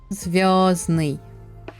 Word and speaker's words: звездный: The N, D is not pronounced. Праздник. Поздно. Звездный. No D. No D for you guys.